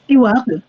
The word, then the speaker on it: Steward: Pour ceux qui ne te connaissent pas, donc tu es Stewart, comment on prononce déjà? Steward.